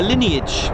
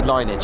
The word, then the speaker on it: lineage: So it's got a bit of a a lineage, but I like to say linage. I'm allowed to say that. I like linage. It sounds nice. Lineage. It's got a slight second syllable to that, isn't it?